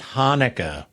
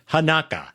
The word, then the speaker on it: Hanukkah: word is mispronouncing is Hanukkah oh and what it does it puts the accent on the first syllable so it become so every time time I type the word it says hanaka that's funny that's good